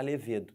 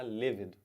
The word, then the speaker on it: levedo: aquele componente da cerveja não pode falar levedo tem que falar levedo égide égide é o